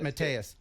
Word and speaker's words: Mattias: Matias, as in rock me.